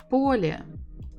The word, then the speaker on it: Поле: Поле, поле, поле, поле. Of course, it is on the first syllable.